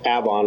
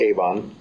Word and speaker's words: Avon: It's pronounced Avon, really, but most people call it Avon.